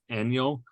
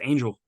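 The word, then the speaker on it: Ángel: of Cleveland's Bullpen pictures when you look at the way it's spelled it looks like it's annual de los Santos but yeah right nope it's angel angel that's right I'm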